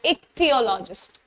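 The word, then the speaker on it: ichthyologist: इट्स नॉट च। The pronunciation is क alright. It's like this. एक थियोलॉजिस्ट।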